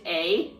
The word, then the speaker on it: Ei: She's a shogun, but she's also a god. Well, technically, no. The shogun isn't the god. The shogun is the puppet. So the god is named A. Okay. Ei, I think it's pronounced A.